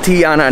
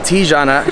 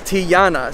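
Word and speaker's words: Tijana: so it's actually pronounced tiana not tijuana she actually told me that the j makes a y sound yeah right the yi yeah so her name is tiana so you're were you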